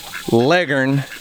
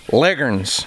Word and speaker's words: Leghorn: big white legen roosters yes I said legen I know how to spell it and I also know how to say it because in Oklahoma those white chickens back there right there are not called leghorns they're called leggins I've had people correcting